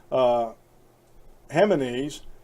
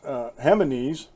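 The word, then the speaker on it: Jiménez: the 1950s Marco Perez hema knees and I'm not sure if I pronounced that right because I know that you pronounced the J's like H's like hold on or hay-zu's Hema knees so that's how I'm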